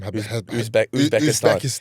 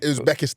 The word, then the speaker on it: Uzbekistan: Uzbekistan. Uzbekistan.